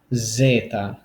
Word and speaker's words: zeta: least another favorite is z and that is pronounced Zeta Zeta so think about it